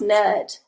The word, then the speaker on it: Nut: got a nut yes it's pronounced nut okay so maybe when